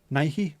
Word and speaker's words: Nike: Nike is the correct way to pronounce it as well. On account of the fact that it's actually a goddess of something. Goddess of war, is it?